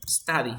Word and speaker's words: study: Study, ¿cierto? Sí, study. Ahora, el día de ayer vimos una regla, que si hay una D entre dos sonidos de vocales, ¿cómo se pronuncia?